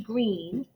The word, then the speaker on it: Greene: named Mr and Mrs Green that's green with a silent e at the end discovered that they were